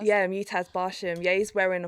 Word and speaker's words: Mutaz: these or how do you say his name mutaz mataz yeah mutaz bash him yeah he's wearing a full Airy